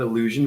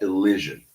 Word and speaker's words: elision: No, it's not illusion. Illusion is a different word. I'm talking specifically about elision.